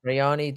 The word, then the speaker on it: Rayanne: Her name spelled like her name is spelled like Rayanne Dos Santos. Rayani Dos Santos.